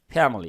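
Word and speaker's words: family: আমার পরিবার কি এখানে একটা ছোট্ট কথা আছে ফ্যামিলি উচ্চারণটা কি ফ্যামিলি এইযে আই এর উচ্চারণটা কিন্তু ছোট্ট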